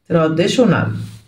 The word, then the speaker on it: traditional: in check in تقليدي traditional traditional t i o n بتدينا الساوند شن traditional traditional رحله نهاريه يعني